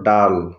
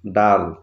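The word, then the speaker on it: dull: যেমন প্রথম শব্দটি দেখো ডি ইউ ডাবল এল, এটার উচ্চারণ ডাল। এখানে দেখো ইউ এর পরে ডাবল এল থাকা সত্ত্বেও আমরা উর মতো উচ্চারণ না পেয়ে আর মতো পাচ্ছি, ডাল।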